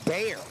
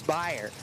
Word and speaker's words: Byer: a kid where they would have pronounced that one Bayer. But I believe you're right that it is Byer.